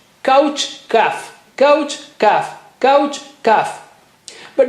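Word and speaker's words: كاف: How do you say kaf? It's just like K of English. Touch the inner part of the tongue to the roof of the mouth right at the back.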